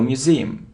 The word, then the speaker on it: museum: now museum so you see that the stress is on the second syllable Museum museum it isn't Volk not